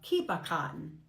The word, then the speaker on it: Kipperkarten: This is uh in in German you pronounce it uh kipakan.